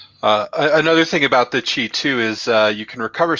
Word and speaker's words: qi: can do with that with the qi or key i guess you could pronounce that either way i prefer chi um is you can